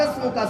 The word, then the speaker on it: اسْمُكَ: سے ذرا غور کیجئے۔ ہم پڑھتے ہیں وَتَبَارَكَ اسْمُكَ سین کے ساتھ، اس کا معنی ہوتا ہے اے اللہ تیرا نام سب سے بلند ہے۔ لیکن اگر یہاں